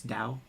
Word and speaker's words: Tao: land but you know it's spelled like Tao but it's Dao t-a-o where it's like the